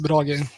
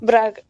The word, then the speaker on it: Brage: The name is pronounced Brage. It's Norwegian. Braga.